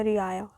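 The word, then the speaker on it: रिआया: बुलाते थे रायत और इसका प्लूरल हो जाता था रिया, मतलब इसको प्रोनाउंस कर लेना रियाया।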